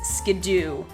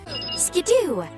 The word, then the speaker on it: Skiddo: to generation 5 however the anime is so far the only time we've gotten a quote-unquote official pronunciation on generation 6 pokemons names and the anime says skidoo skidoo the mount pokemon because